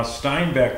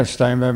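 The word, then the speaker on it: Steinbäck: Now Steinbeck, they actually spelled it with B-A-C-K back then, right? Yeah, but it's pronounced, with 2 dots above it, it's pronounced E in Swedish.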